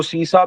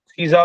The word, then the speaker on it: CISA: इसको सीसा भी प्रोनाउंस करते हैं, सीजा भी प्रोनाउंस करते हैं। इट्स वन इज the same thing, does not make a difference.